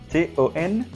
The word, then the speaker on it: ton: Alors, T-O-N, ton.